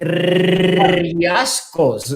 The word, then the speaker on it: Riascos: But we don't pronounce the R, we don't pronounce it as in English. Riascos, no, we pronounce it Riascos.